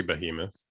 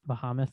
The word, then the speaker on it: Behemoth: It's pronounced something else. I, what did I say? It should be Behemoth. I think yours Bahamut or something like that was what you were Jeez, saying earlier.